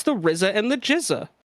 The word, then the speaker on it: GZA: It's no, it's the RZA and the Jizza.